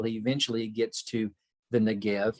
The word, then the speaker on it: Negev: eventually gets to the negev you see it translated with a b at the end which is typically pronounced with a v sound when you're pronouncing it